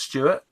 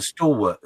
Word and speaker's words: Stalwart: mispronounced that Mark Burgess so it's not Stewart and this is where you need someone of expertise like Tim so it's a stalwart still walked amphibious 5